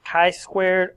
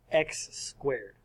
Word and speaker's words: chi-squared: Again, that's pronounced chi-squared or chi-squared, not x-squared.